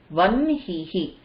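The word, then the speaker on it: vahnihi: Again, it will be easier to pronounce vanhihi.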